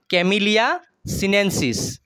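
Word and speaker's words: Camellia sinensis: সাহর বৈজ্ঞানিক নাম হইছে কি বৈজ্ঞানিক নাম হইছে ক্যামিলিয়া সিনেন্সিস উচ্চারণ টু টেনে কয় হবো ক্যামিলিয়া সিনেন্সিস হইছে সাহর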